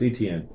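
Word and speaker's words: Etienne: I I'm not I don't even know how to pronounce that. Uh it's Travis ETN. ETN 17.60.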